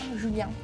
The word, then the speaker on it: Julien: It's like a lady's name. It's actually pronounced Julien. Yeah, Julien.